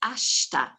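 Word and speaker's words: ashita: word for tomorrow is ashta now i've got a really silly way of recalling this one ash and tar but it's ashta ash and tar mix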